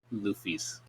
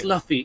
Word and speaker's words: Luffy: a like an easter egg it's like it's fluffy it's pronounced luffy you ass no i mean like yeah that's